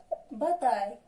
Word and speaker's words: bataille: Maintenant, la lettre A, I, L se prononce I. Se prononce I. ناخذ مثال travail et bataille.